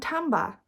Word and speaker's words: timbre: This week's words are quaver, tone and timbre, which is spelled timber, like when a tree falls down, but with the R and the E switched the wrong way around.